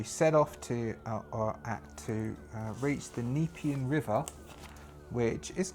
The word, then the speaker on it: Nepean: is we are going off to the, it's pronounced Nepean. I wrote it down wrong. Nepean River. So the people in in Marsden Park tell us about this person Alex, who set off to reach the Nepean River, which is not that far away.